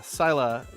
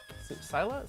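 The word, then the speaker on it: Scylla: Sila is how you say it. I think I've got it right here. I don't know what's the better move. Yeah, Sila.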